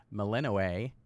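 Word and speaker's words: Melinoë: to be playing as meleno oh let me pronounce the name right meleno right who happens to be the little sister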